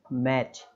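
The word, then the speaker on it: match: तो हम इसको पढ़ेंगे केवल मैच, है ना, मैच इस तरीके से, मतलब मैच, अरे ये तो सिंपल मीनिंग है भाई, दुनिया भर के लोग देखते हैं मैच।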